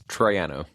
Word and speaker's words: Troiano: It's Troiano.